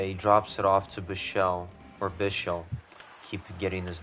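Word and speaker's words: Bichsel: Uh, yeah, he drops it off to Bichelle or Bichelle. Keep getting his name wrong. The enunciation is on the first syllable, not the second one.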